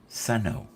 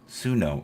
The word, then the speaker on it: Suno: All the music is either from Udio or Suno, or as I used to call it, Suno. Suno is the proper pronunciation of it.